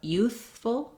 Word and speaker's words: youthful: you can think about youthful, full, really being short and relaxed, having a reduced vowel there, and useful, full. So trying the full, useful, full, youthful. First syllable stress on both of these words.